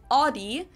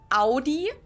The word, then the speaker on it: Audi: first one is Audi most Americans that I know pronounce it like I just said it AI in German we say Audi Audi and there's actually a